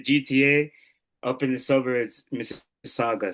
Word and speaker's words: Mississauga: So it's the Greater Toronto Area, the GTA, up in the suburbs, Mississauga. So it's Saga City, Mississauga. That's basically how you pronounce it.